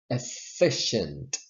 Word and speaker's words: efficient: fifty-fifth next word efficient now let me explain you see a double consonant but double consonants in English most of the time if not always they sound as a single consonant in writing they're double but in speaking the sound is single so you don't say F fish no you say only one consonant with all double consonants in English or I